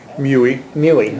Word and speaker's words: Muehle: Muehle, okay. Rhymes with Huey and Dewey.